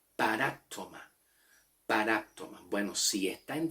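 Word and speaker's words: παράπτωμα: En el griego, la palabra falta en el griego se pronuncia paraptoma. Paraptoma. El acento está en la A, paráptoma.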